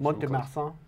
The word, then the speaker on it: Mont-de-Marsan: You're good at pronouncing stuff, even though I'm Mont-de-Marsan.